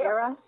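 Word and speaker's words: Erra: Their home planet, somewhat smaller than Earth, is called Era. Am I pronouncing that right? Yeah. Era, E-R-R-A.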